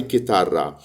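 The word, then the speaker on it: chitarra: اس كتير جدا لكن كلمه جيتار هي مش من اصل ايطالي هي بالايطالي كيتار هي الكلمه دي كلمه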